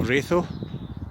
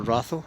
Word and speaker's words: Ratho: This is us walking along the towpath coming into the village of Ratho, or Ratho, depends how you pronounce it.